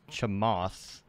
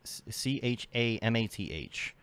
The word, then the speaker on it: Chamath: And there is, I believe his name is pronounced Chamath, Chamath, C-H-A-M-A-T-H, looks like Chamath.